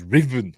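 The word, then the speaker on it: Ruthven: Miller as um as Riven Captain Riven but it's spelled Ruth ven r u t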